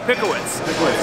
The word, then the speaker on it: Pickowicz: All right, Brian, is it Pickowicz? It's a tough one. It depends on where you're from, I guess. It's Pickowicz. So I said it right.